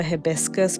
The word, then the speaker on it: hibiscus: I also checked because I call this flower hibiscus, but I have heard people call it hibiscus, and I didn't want to do this entire video on this flower and pronounce it wrong. But I think the American way to pronounce it is hibiscus. So hibiscus is also fine.